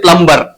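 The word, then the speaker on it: plumber: like very famous शब्द प्लंबर तो हम उसको क्या बोलते हैं प्लंबर प्लंबर प्लंबर उसमें हमारा क्या होता है भी साइलेंट होता है कई सारे शब्द होते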